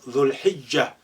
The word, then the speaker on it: ذو الحجة: It's called Dhul Hijjah, when Muslims go to Mecca to perform the pilgrimage. Dhul Hijjah. Look how this lengthening dhu now been shortened. You just link the dhu with lam sukun.